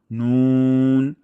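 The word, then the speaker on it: نون: তারপর নুন, নুনের ক্ষেত্রে আমরা একটা বিষয় খেয়াল রাখবো যেন আমাদের ঠোঁট একদম গোল হয়ে যায়। আর নুনের মাখরাজ হলো জিহ্বার আগা এবং তার বরাবর উপরে তালুর সঙ্গে লাগিয়ে আমরা পাতলা সাউন্ডে উচ্চারণ করব নুন, নুন।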